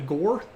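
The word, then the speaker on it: Ghor: out up here in this region called the gore uh g h r there are some really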